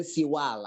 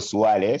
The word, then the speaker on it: Siwale: Names are not necessarily pronounced the way they are spelled. Blackwell Siwale, not Siwale. Yes. That's why when the class captain said Siwale, I said, no, that's not the name of the lecturer.